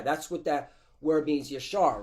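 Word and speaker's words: ישר: When you go into that word upright, it's Yeshai.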